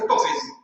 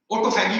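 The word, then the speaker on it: autophagy: ऑटोफेजी एक science है, ऑटोफेजी, ऑटोफेगी बोले, ऑटोफेजी बोले, कोई भी उसका प्रोनाउंसिएशन कुछ भी कर सकते।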